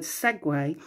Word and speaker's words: segue: at the moment um it is spelt s-e-g-u-e so a little challenge for you see if you can get the word segway into your conversations and